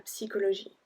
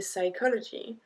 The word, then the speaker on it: psychologie: So we pronounce the P à psychologie. We don't say psychology. C'est psychologie. Psychologie.